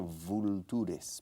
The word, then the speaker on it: vultures: Vultures. Vultures. Se escribe vultures, pero se pronuncia vultures.